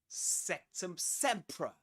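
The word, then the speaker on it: Sectumsempra: Sectum sea. Sectum sea. Right. Sum. There's a schwah there in the second syllable.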